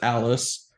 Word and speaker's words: Dallas: with bis no it's Alice um the there's no D in Dallas it's just Alice um yeah well with